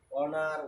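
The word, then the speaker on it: honour: যেহেতু এই ধরনের কিছু কিছু ক্ষেত্রে আমরা লক্ষ্য করবো অনেস্ট, আওয়ার, অনার, ওয়ানার্স, এরকম কিছু শব্দ আছে যেগুলাতে এইচ অধ্যাপক এইচ থাকা সত্ত্বেও এইচ সাইলেন্ট, অনুচ্চারিত বা অস্পষ্ট, বা এই যে সকল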